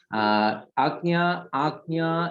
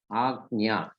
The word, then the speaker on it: Ajna: came as a print where the spelling of Ajna was asked rightly by I think Kavita ji. Ajna is A-J, A-J-G-N-A, Ajna, Ajna. Actually, A-G, Ajna, A-G, Ajna, A-G-N-A, Ajna.